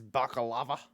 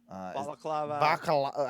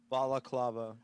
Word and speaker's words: balaclava: Yeah, he sings songs in his baklava. Balaclava. How do you say it? Balaclava. I was close.